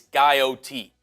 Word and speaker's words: Guyot: we got a pronunciation it's guyot guy OT I want far off